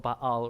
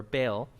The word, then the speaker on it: Baal: gods called you know they're called Baal or bail because we like to mess up the way this pronounced bail okay they brought